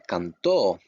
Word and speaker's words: cantó: Remember, every time you see an accent, that little slash over the vowels, you pronounce that vowel harder than the other letters, okay? You emphasize it.